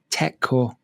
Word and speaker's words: Tekkorp: um African partner for Tech cor Tech cor is spelled t e k k o r p so you probably know the name but you didn't know how to say it cuz that's certainly how